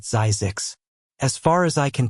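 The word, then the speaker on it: Zzyzx: "This is Zizix," they said, pronouncing it Zazix.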